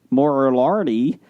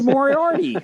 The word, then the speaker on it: Moriarty: ever talks to us it's moriarty from sherlock andrea moriarty excellent uh and fans